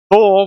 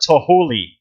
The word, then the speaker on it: Thule: Like Thule, where I'm from, should be pronounced Thule, not Tohuli.